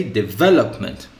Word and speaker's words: development: development as we see it ends with meant okay so this one this ending so we should go and see the syllables first we divide the syllables so we have d the low meant these are all the syllables so we take the first syllable before it lope this one it is not the one we need we need the one before it so we say development development with the accent with the stress or accentuation on the